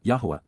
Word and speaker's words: Yahweh: during the approach of Yahweh Yahweh the proper pronunciation of the name of eloah God as